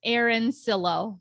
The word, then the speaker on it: Arancillo: name last name right around chilo everybody asked me that it's uh i'll say it americanized fits aaron sillow aaron silo easy for everybody to pronounce that way absolutely so my guest